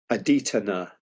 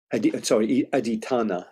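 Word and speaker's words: Adhiṭṭhāna: This in Pali is called Aditthanna. Aditthanna. I did the accent on the A.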